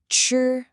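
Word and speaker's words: 吃: Ch. Really focus on that ch sound at the beginning. It's a sharp crisp sound.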